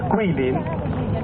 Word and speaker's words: Guilin: G-U-I-L-I-N. Hein? On prononce Quilin, hein?